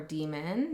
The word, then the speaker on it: daimon: We have daimon or demon, depending on how you want to pronounce it, but this talks